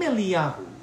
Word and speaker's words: Eliyahu: to announce his arrival the name eliaru is always spelt with a love at the end if you take a valve the letter v and you put a dot inside it it makes a u sound if you put a